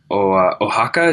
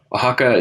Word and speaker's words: Oaxaca: Now, he is also the director of Oaxaca, Day of the Dead. Did I pronounce that right, Oliver? Yes. Yeah. Oaxaca, Day of the Dead, a collection of 8